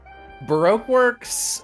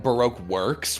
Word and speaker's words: Baroque Works: you pronounce that yeah the anime pronounces it Baroque Works where they emphasize the second word which is insane and I do not understand why they do that and they're wrong it's Baroque works yeah like like how